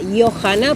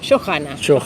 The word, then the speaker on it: Johanna: Sí, en realidad mi nombre y apellido tienen origen danés, mi abuelo era danés, entonces sería Johanna, porque la J suena ahí, Johanna. Pero también tiene como una pronunciación también inglesa, que es Johanna, entonces bueno, ahí quedó Johanna. Johanna. ¿Y en general cómo te llamo? Johanna, suena la H.